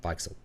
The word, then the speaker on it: Weichsel: I'm going to pronounce his name. The German said Weichsel, who does bizarro fiction stuff like Tales to Make You Vomit.